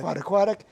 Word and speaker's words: Pottequadic: The Around, how do you pronounce that? Pottequadic.